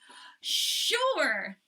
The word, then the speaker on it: sure: she is healthy sure now sure is a really tricky word it sounds like there's an H but there is not the word sure is